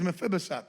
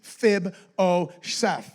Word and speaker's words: Mephibosheth: It's a tongue tire, but it is Mephibosheth. That's the name. That's how you pronounce it. Mephibosheth.